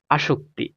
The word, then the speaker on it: আসক্তি: থাকলে পুত হয়ে গেছে প্রজাপতি দুইটা শেষ তারপর আসক্তি এটার উচ্চারণটা কি আসক্তি তাইলে তো স্বরায় আছে কোন